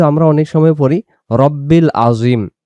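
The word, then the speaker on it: عظيم: একটু টান দিয়ে বলবো আজিম, আজিম। এবং এটা আইন অক্ষর আজিম উচ্চারণ। সুবহানা রাব্বিয়াল আজিম, সুবহানা রাব্বিয়াল আজিম।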